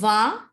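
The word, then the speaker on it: vingt: So G is silent here. And T is also silent.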